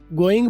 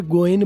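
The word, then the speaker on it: going: ये जो आखिरी जी है गोइंग का, ये ब्रिटिश हो या अमेरिकन हो, इसको आप बोल लो तो भी ठीक है, साइलेंट कर लो तो भी ठीक है, गोइंग बोल लो तब भी ठीक है, गोइन बोल लो तब भी ठीक है।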